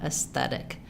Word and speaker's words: aesthetic: Aesthetic. So you can't omit the S sound because it would sound like aesthetic.